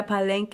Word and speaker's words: Palenque: Palenque, Yeah, Palenque, and kind of like yeah, kept their community and their culture alive.